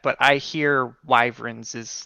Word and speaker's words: wyverns: Oh, wyverns. I said weaverns forever, so I still say it like that. But I hear wyverns is like how you should say it.